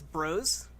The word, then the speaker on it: Bros: And for the record, it's Bros, and I will accept no other pronunciation of the title of a Super Smash Bros. Game.